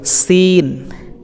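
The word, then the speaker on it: سين: আমরা উচ্চারণ করব এরপরে সিন জিহ্বার আগা সামনের নিচের দুই দাঁতের গোড়ার সঙ্গে স্পর্শ করে আমরা উচ্চারণ করব সিন একটু টেনে সিন এরপরে আমরা সিনটি উচ্চারণ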